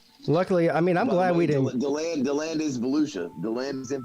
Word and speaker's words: DeLand: Deland.